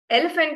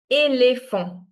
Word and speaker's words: éléphant: But when this accent comes on top of E, it's pronounced as A. For example, elephant in French is going to be pronounced as éléphant. Everyone repeat with me. Éléphant. éléphant, éléphant, Now you guys try. If let's say the accent wasn't there, how would we pronounce elephant in French? Elephant. In French is right?